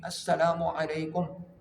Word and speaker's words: السلام علیکم: نہ جائے۔ سلام اور جواب سلام کا درست تلفظ یاد فرما لیجیے۔ پہلے میں کہتا ہوں آپ سن کر دہرا لیں، یعنی السلام علیکم، السلام علیکم۔ اب پہلے میں جواب سناتا ہوں